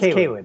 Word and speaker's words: Cawood: I am pronouncing that right? Cawood? Actually, it's Cawood.